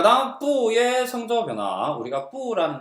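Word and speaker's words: 不: 자, 다시 사성 앞에서는 2성으로 발음한다.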